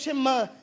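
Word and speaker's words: שמע: Só que quando Jesus responde isso, Jesus está evocando uma tradição chamada chamá, que seria mais ou menos, Shema, na verdade, a pronúncia correta, que eu não falo hebraico, vocês perceberam, né?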